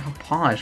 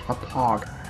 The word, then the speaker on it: Hauppauge: I keep calling it Hauppauge when I'm pretty damn sure it's supposed to be pronounced Hauppauge. I've been to Hauppauge, New York, and for God's sake, that's how they pronounce it. I want to pronounce it with a hard G.